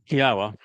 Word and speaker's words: Yahowah: Yahwa, which is the proper pronunciation of the name of our Elawa, God, as directed by